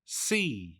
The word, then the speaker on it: sea: ใช่ มั้ย คะ อ่ะ เรียก ว่า C ออก เสียง แบบ นี้ ค่ะ C สะกด ด้วย จำ ได้ เ่า s e a c นะ คะ ตัว นี้ ออก เสียง ว่า SE นะ คะ go to the